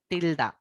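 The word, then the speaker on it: tilde: टिल्डा, जिसे हम लोग टिल्डे से टिल्डे बोलते हैं। आप जो भी प्रोनाउंस करना चाहते हैं वो आप कर सकते हैं।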